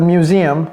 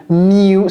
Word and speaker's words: museum: comment prononcer ce mot c'est pas facile mu c'est comme music je sais qu'il n'y a qu'une seule syllabe mais c'est pas mu c'est mi comme s'il y avait deux syllabes mi mi Museum Museum ok mumum Museum